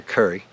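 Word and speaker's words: Kure: it's actually Carolina beach not Curry which is K re e uh but that's how they say it down here Curry so I met them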